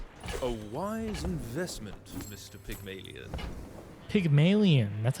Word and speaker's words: Pygmalien: Pigon.